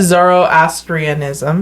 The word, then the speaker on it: Zoroastrianism: Zoroastrianism.